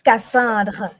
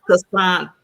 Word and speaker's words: Cassandre: It's French. It's Cassandra. I always say Cassandra, but it's French. And I know you got to do that la to the end of it. Yes, you have to roll your R's.